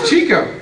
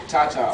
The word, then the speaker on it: Cha-Cha: It's Chico. It's Chico. Chico. It's Cha-Cha. Like, I'm not rude to grown-ups, man, but like, if you say my name wrong again, I'm gonna get real mad.